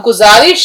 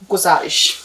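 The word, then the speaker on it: گزارش: 100 पर सही लज अब गुजारिश का उच्चारण भी सही होना चाहिए कैसे लिखेंगे गुजारिश गा और ज देखिए गुजारिश तो उसने अली बाबा से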